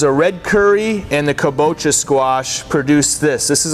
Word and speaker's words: kabocha: we can touch on is the kabocha okay pronounced kabocha this is an asian variety squash okay really